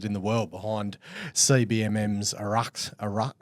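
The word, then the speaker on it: Araxá: the world behind CBMM's Araxa. I think you pronounce it Erasure. erasure. Erasure, yeah, Hoffy told me that actually.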